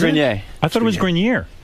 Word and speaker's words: Grenier: From Entourage, Adrian Grenier and Kevin Conley. It's actually Grenier.